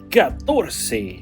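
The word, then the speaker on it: catorce: The number 14 is written like this in Spanish and it's pronounced gators.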